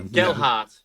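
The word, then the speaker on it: Gelhardt: Is it Gelhart? Is that right? Have I said it right? I think so. Gelhart. Yeah. Gelhart. No D in it.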